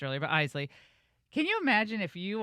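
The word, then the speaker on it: Eisele: Isley, whose name I mispronounced earlier, but Isley.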